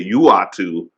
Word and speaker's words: Uatu: Do you say Uatu or Uatu? I used to say Uatu, but then when they did the What If series, they clearly said Uatu the Watcher on the show.